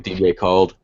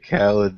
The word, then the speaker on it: Khaled: He didn't call him DJ called. Well, all right. What's the correct pronunciation? Fuck faces. He's so mad. It's DJ Khaled.